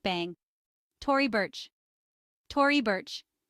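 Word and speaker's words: Tory Burch: like bang Tori Burch Tori bir simple pronunciation with stress on the first syllables Donan Don Karan rhymes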